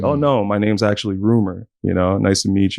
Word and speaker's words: RMR: getting these interviews popping all time the name rumor right but it's spelled RMR yeah right how did you come